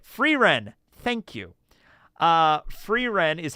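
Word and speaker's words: Frieren: Ren that's it free Ren thank you uh free Ren is how you pronounce it free Aaron # free Aon from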